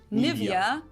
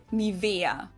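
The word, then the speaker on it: Nivea: native speakers usually say niia in German we n so the emphasis is on the E Nia hair Cosmetics brand that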